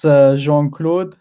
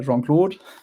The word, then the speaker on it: Jean Claude: pronounce your name properly it depends uh what language we're speaking let's do English in French it's Jean clae in English I mean you guys did it perfect in German it's probably Jan and then you got Spanish jangl so how many languages